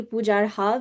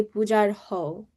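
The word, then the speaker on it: पूजार्हाव्: So when you have a V, it has a W sound. So you wouldn't say Pujar Hav, you would say Pujar Ho.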